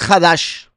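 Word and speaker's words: חדש: En hebreo, la palabra para mes se pronuncia jodes, mientras que nuevo es hadash, razón por la que el nuevo pacto es llamado el habrid a hadasá.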